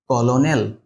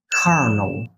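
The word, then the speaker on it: colonel: ও এল ও এন ই এল কি হবে কলোনেল নো এটার উচ্চারণটা হবে কার্ন কার্ন যেটাকে আমরা বলি কর্নেল বা আর্মির যে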